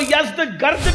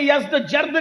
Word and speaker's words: یزدگرد: کا نام تھا یزدجرد، اس کو یزدگرد بھی کہتے ہیں ایرانی لب و لہجے میں، عربی میں یزدجرد کہتے ہیں۔ ایرانیوں کی جنگ ہوئی